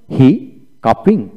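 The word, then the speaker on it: hiccuping: এখানে উচ্চারণটা হলো এইচ আই হি, সিউ কা, সিউ কা, ডাবল পিতে একটা পি হবে, তারপরে আইএনজি, হি কাপিং। এখানে সি বাদ গেল, পি এ একটা পি বাদ গেল।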